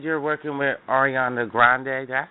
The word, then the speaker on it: Ariana Grande: You also said you're working with Ariana Grande. Did I say her name right? Yeah, Ariana Grande.